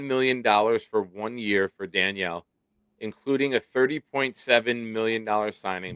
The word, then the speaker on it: Danielle: The Texans and fivetime Pro Bowl Denil Hunter. It's Danielle. You spell it that way. It's Danielle.